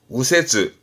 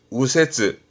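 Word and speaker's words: 右折: 유가 아니라 밑에 우처럼 우세즈, 우세즈.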